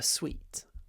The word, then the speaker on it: suite: it's like a range but more prestigious a sweet uh all right the next word I like